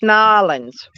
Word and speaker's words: New Orleans: Hey, that's Nolans. They say it Nolans.